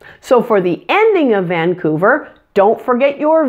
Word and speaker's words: Vancouver: fairly easy the qu the C has a K sound and the O you is pronounced ooh like the sound in the words food or moon pull your tongue back and round your lips when you make this sound ooh since the U is in a stressed syllable it's especially important to stretch out this sound Vancouver Vancouver be careful